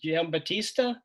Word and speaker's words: Giambattista: So next on the list is Dylan Giambattista. You got it, Jeff. That was good pronunciation, so thank you for that.